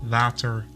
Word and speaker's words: water: The Dutch W is pronounced differently. In the beginning or in the middle of the word, it's sort of between a V and a W sound.